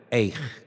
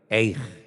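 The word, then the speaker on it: איך: ¿Cómo se dice cómo en hebreo? Eij. Dígalo conmigo. Eij.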